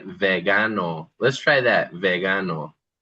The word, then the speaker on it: vegano: Here's an example of a hard g in Spanish. If we say the word vegan, we'd say vegano.